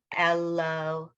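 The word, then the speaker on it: אלהיו: Ashrei Ha'am She'adonai Elohav. Mhm. Tehillah. This, when you have yud vav, the yud just sort of gets lost.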